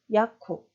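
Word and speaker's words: Jakub: 네, 이때도 마지막 자음 무가 브 발음이 아닌 프 발음으로 나는 거죠. 그래서 우리나라 말로는 그냥 받침 비읍으로 발음하셔도 되고 살짝 입술을 떨어뜨리시면 됩니다. 야쿱.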